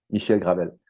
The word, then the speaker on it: Michel Gravel: This is how we pronounce his name, Michel Gravel, with somebody from the audience that gave us an idea of a topic, right?